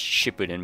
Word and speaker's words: Shippuden: It's pronounced Shippuden, by the way.